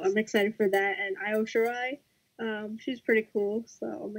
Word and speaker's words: Io Shirai: Io Shirai? No, Io Shirai.